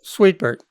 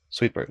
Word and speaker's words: Suitbert: Am I pronouncing his name correctly? Sweetbert. Sweetbert.